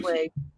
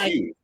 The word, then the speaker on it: Hsu: Sway. Oh, Sway. Oh, that's how you pronounce it. I can't pronounce it. I'm trying my best. It's HSUI. Yeah. Yeah. I thought it was Hughes.